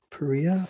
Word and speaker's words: pariah: Oh, pariah dogs. Pariah? I may be pronouncing that wrong. Google. Oh no, it's a pariah.